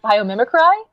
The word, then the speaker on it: biomimicry: I'm saying like biomimicry. Is that how you properly pronounce it?